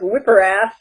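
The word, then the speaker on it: WPRPAS: It's pronounced whipper-ass. The second P is silent.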